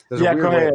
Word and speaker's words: Correa: Correa.